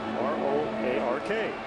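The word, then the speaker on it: Roark: YES, I GUESS THE PRONUNCIATION OF THE SURNAME ACCORDING TO HIS GRANDMOTHER IS R-O-A-R-K. TANNER RO-ARK.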